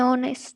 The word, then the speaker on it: honest: An honest.